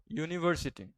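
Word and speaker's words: university: One eyed monster okay यूनिवर्सिटी को ट्राई करो यूनिवर्सिटी पहले क्या आ रहा है? यूनिवर्सिटी ठीक है। वाई डबल ओ करके आ रहा है कि नहीं आवाज? वाई क्या है? कंसोन यानी कि वोवेल है। कंसोनेंट है अ यूनिवर्सिटी। एन यूनिवर्सिटी नहीं।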